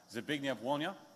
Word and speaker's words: Zbigniew Wolnia: It is, and I've asked him how to pronounce his name, so I shall hopefully get it correct. It is Zbigniew Wolnia.